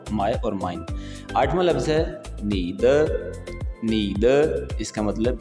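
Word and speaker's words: 很: सो 11वां लफ्ज है आपके सामने लिखा हुआ हन हन। अच्छा ये जो ह है बेसिकली ये थोड़ा सा ख का साउंड भी आपको फील होता है जब आप किसी चाइनीस नेटिव को सुनेंगे।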